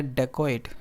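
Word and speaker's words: dacoit: Once a डेकोइट, ठीक है. अब यहाँ इसकी जो प्रोनाउंसिएशन होगी वो होगी डेकोइट.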